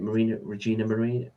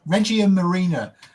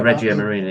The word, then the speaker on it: Regia Marina: Again, the Italian Navy, is it Regina Marina? I'm trying to think how to say it. Regia Marina. I keep thinking. Yeah, Regia Marina.